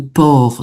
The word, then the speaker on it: porc: ma région et donc le port sans prononcer hein, le C.